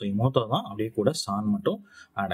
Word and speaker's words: 妹: சோ தனியாக வரும்பொழுது இமோத்தோ அப்படின்னே உச்சரிக்கப்படுது.